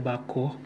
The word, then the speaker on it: Bakoh: Wow, bako, bacanya bako, Indonesia bako.